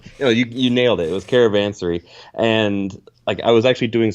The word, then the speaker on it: Caravansary: It was Caravansary, and I was actually doing some research on